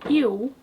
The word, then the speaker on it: eu: Well, a lot, because the difference between eu and il, pronounced with a dark L, is that in eu, my lips are round, while in il, I'm smiling. The u and the l are actually pronounced the exact same way.